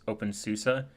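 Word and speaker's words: openSUSE: As fara is German term, so it's pronounced open susa.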